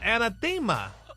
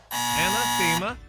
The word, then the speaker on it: anathema: this word word and I mean it's easy pronounced thank God so this week's word is anathema wrong anathema nope anathema a n a t h e